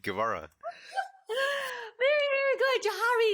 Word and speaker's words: Guevara: Did I say that name correctly, Jharry? Yes, Guevara. Yes, you said it right, Guevara.